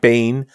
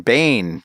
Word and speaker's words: Byen: The event that takes place March 14th to 16th at the BGI Bain in Copenhagen. BGI-BYEN, Bain, spelled like it sounds.